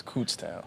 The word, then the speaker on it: Kutztown: from that night is the how to pronounce Kutztown it's cstown I said it right